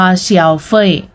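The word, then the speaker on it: 消费: มา ให้ พวก เรา การ บริโภค เรา จะ อ่าน ว่า เชียว เฟ่ย นะ คะ เชียว เฟ่ย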